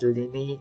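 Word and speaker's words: Lyney: Pronounced as Lini and Lynette, by the way.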